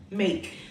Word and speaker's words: make: Make. The E is silent. You see how all the words that with E we tend to emphasize. Então, tomar cuidado com isso, para não enfatizar o E.